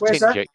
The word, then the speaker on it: Tingewick: Oh, Bike Hub is from Tingick. Now, talking of Tingick, or Tingewick as they call it. Yeah, Tingick. I've heard of it's that. actually pronounced Tingick.